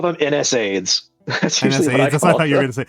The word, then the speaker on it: NSAIDs: Or I call them NSAIDs.